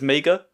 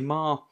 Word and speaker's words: Meagher: I always assumed that his name was Meager, but it's Marr. It's pronounced Marr. Like Johnny Marr.